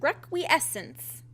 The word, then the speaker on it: Requiescence: frog gina back again with another episode of requiessence i finally said it right and i'm finally